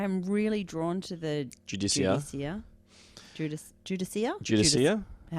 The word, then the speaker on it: Judiciar: pronounce that because yeah the judas jude is judicia judicia is the way they pronounced it on the live stream i don't